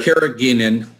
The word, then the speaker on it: carrageenan: people asking about the carat how do you pronounce that dr carrageenan yes I've been apply that not indeed that's